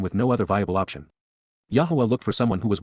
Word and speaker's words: Yahowah: genuine yah Yahweh God's personal and proper name pronounced Yahweh based upon haa to